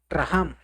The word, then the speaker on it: racham: Hay algo eh que es la palabra rajam, eh se escribe racham y esto significa gracia, pero el término rajham es una gracia que significa misericordia.